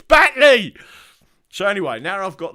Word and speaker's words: Batley: So it must be Bately. He went, no, it's Batley.